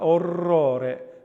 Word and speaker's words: orrore: The double R, orrore. We have the double R for the roll and the single R between the two vowels being flicked.